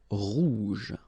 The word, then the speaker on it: rouge: Remember, G-E, je. Rouge.